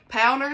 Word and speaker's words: Pounder: So Pounder is how you say her name.